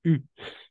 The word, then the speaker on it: eu: Et le participe passé du verbe avoir, on prononce U. D'accord? U. Exactement, c'est ça.